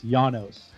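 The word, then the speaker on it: Llanos: last name my friend it's janos because it's because it's latin right because it's spanish yeah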